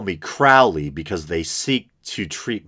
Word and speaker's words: Crowley: of Aleister Crowley a lot of people say Crowley I believe the proper pronunciation is Crowley and he was a practitioner of Crowley's kind